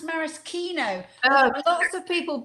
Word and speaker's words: maraschino: Oh yes, it's actually pronounced maraschino. Lots of people mispronounce it, but it's actually a marasca cherry. It's a morello cherry grown in Marasca, which is in Croatia. So it is actually pronounced maraschino.